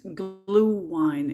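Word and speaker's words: Glühwein: busy play this game you'll pronounce it glue wine it is served hearts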